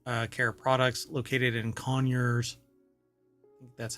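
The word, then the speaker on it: Conyers: and spa water uh care products located in conures that's how they pronounce it um Georg has led to an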